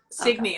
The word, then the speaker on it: Signe: said it yeah i just read it yeah sydney that's it well thanks everybody and thanks to